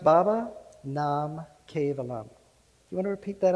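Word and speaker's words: Baba Nam Kevalam: in sanskrit that can open your heart it's pronounced baba nam cave alum you want to repeat that after me baba nam cave alum let's do it again baba nam perfect so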